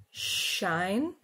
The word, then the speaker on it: shine: For example, shine, shine. In this case, it is spelled with an SH, shine, but we could find this sound in words with a different spelling.